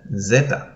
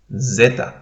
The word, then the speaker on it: zeta: that sound this is it's like a combination of an s and a d and in english uh you have that sound slightly in the word wisdom wisdom you don't say wisdom you rather go through the two consonants there and you say wisdom wisdom um and as an